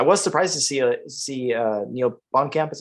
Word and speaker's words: Blomkamp: I was surprised to see Neil Blomkamp, is how you say it.